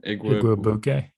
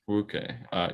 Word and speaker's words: Igwebuike: Igwebuike, I think. Igwebuike.